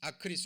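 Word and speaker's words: ἀκρίς: 땅 아리의 나오죠 그쵸 황충이 아 그리 아크 리스 로 발음이 되는데 이게 메뚜기 라는 뜻이에요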